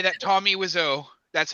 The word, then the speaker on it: Wiseau: you If know, really I like have to torture say, I yourself- have to say that Tommy Wiseau. That's how I pronounce his last name.